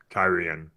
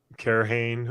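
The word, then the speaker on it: Cairhien: Because I had pronounced it like Karhane or Karheen, something like that, and that just made sense to me. And then I started hearing other people say Kyrian, and I was like, oh, that makes sense.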